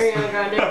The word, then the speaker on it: Ariana Grande: Ariana Grande from Ariana Grande's ponytail.